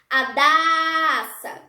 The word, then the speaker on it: Adassa: Para identificar qual é a sílaba tônica do meu nome, eu posso gritar a palavra. Adassa.